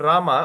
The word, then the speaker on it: Rama: So the a behind becomes silent but not this thing. So but when we chant we chant Ram.